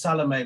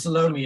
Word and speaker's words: Salome: was salome i'm i i realize the classical european pronunciation is salome but in south africa it sort of gets squashed her name is salome and partly in tribute